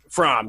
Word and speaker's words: Fromm: I don't know how to pronounce it. It's Fromm.